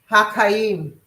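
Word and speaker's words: חיים: Haim. Haim. Okay. It's c h a y i am. Ha is the haim.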